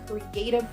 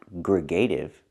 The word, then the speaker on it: creative: I think she means creative, not gregative.